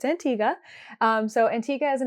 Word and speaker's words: Antigua: antia which I learned I was saying Antigua but we actually learned basically we when we were in the airport and they called our flight to Antiga that we were saying it wrong so it's Antiga um so Antiga is